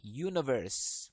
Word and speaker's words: universe: itu harus vowel sound sedangkan di sini sound-nya adalah Universe pakai y Berarti dia tidak memenuhi